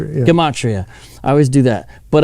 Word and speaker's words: gematria: does some of the dematria uh we mentioned earlier i always mispronounced that gematria de matria dimachi it's a harder g gematria i always do that